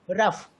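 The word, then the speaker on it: rough: है what is that the letters ji H sound like F इन the word loaf let's say there another word है been written रफ आप इसको रफ ही पढ़ते हैं यस सर अब रफ को आर ओ यू जी एच यानी जी एच को आप घ ना करके ग ना बोल करके फ पढ़ते हैं ट मीस की इसी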